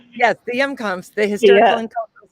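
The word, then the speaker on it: Hjemkomst: at the FMCT in the, I don't even know how to say it properly, The the Yumcomps. Yomscomp. Yes, the Yumcomps, the Historical Yeah, and Cultural Society of Clay County building.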